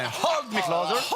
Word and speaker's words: Hold Me Closer: Alors le H est expiré. Hold me closer.